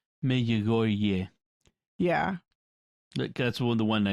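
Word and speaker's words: Medjugorje: I mean, there's a similarity, but so, like, what do you do with, like, J, evidently in Croatian, is more of a y sound. Mejogorje.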